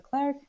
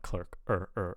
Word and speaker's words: clerk: without P yeah yeah and then like cleric I think this word was there before as well but I'm he like CL air air without p in front of the cleric and then cleric clerk but I want clerk left without paying the